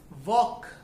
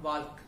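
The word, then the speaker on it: walk: एल के जब होता है लास्ट में तो उसमें हमारा एल साइलेंट होता है, that is वॉक नॉट वाल्क, that is टॉक टी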